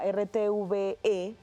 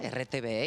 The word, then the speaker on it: RTVE: tu caso Beatriz Cuántas noticias puedes mandar para rtve lo pronunci bien muy muy bien marcas ahí í pronuncia digo rtv y en España me dicen Perdona rtve y digo no perdón es r pero la